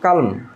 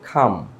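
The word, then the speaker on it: calm: এখানে আমরা বলি কালম, কালম, শান্ত, যেটার বাংলা অর্থ। তো এটার উচ্চারণটা হবে ডাইরেক্ট খাম, খাম, এই যেভাবে খাম, খাম, খাম।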